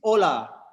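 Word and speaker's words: olá: spanish it's holla and in portuguese it's ola so that is the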